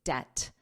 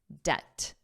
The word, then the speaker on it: debt: Notice the pronunciation here, that B is silent, so it's debt, debt, debt.